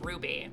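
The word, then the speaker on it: RWBY: pronounced he was like it's ruby it's just like ruby rose it's supposed to be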